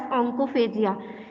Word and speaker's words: onychophagia: Talking about nail biting, it is also known as oncophagia or else nail biting. Onychophagia नहीं पढ़ते हैं. It is pronounced Y silent. It is pronounced as oncophagia or else nail biting.